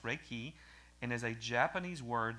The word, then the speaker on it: Reiki: another quote from dr randy clark reiki is pronounced reiki and is a japanese word that refers to